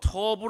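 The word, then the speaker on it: טוב: 번역을 다르게 쓸 뿐입니다 구약성경의 언어인 시보리 어로 터부 라고 발음하고 읽는 이 말은 하나님께서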